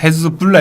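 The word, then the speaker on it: Hezbollah: 예를 들어 헤즈볼라. 헤즈볼라도 그 뒤에 알라예요. 뒷말이. 그 볼라 할 때 그게 알라예요. 원래 헤즈불라 이렇게 A 대신에 U를 써왔는데 그게 O로 발음하기 좋게 그래서 헤즈볼라가 되는데 그건 무슨 말이냐면 거기는 신의 당 네.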